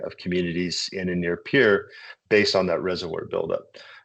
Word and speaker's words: Pierre: And uh for this particular one, uh was uh Missouri River near Pier, I guess it's pronounced Pier, not Pierre, Pier, South Dakota.